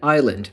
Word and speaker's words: island: two words, isle and island. They must be related. And so they inserted a silent S into the word island as well, even though historically there is no reason for it to be there.